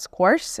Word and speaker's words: scores: Whilst you're there, it's scores. Scores. That's why I couldn't understand it. You pronounce the last S like a Z.